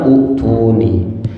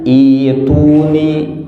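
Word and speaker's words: ائْتُونِي: Ya secara normal kan Utuni. Padahal bukan itu, khusus di sini itu hamzahnya tuh jadi iya. Jadi bacanya itu jadi Ituni, ituni. Khusus di sini itu jadi ituni. Jadi hamzahnya ada, hamzah anu sukunna jadi iya, jadi panjang. Jadi 2 harokat.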